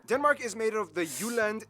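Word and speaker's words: Jylland: here we go denmark is made of the uland not jutland peninsula that connects to germany in the south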